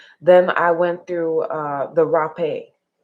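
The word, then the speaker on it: rapé: Then I went through the rape, or I think it's pronounced hape actually, but spelled like rape.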